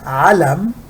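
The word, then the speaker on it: عَلَم: quiet so this is alam there is fatha over the lamb this is elm there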